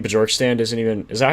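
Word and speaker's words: Bjorkstrand: Vader saying Bjorkstand isn't even Is that how you say his name? Borkstrand. Yeah, Bjork. Borkstrand.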